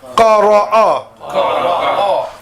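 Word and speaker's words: قرأ: And the hamza with the fatha is a. So all three together, qara'a.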